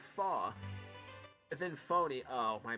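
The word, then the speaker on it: faux: word fox is pronounced faw is in phony oh my bad it's a french word snobby it's a french word snobby people used it means fake or knockoff step one gather your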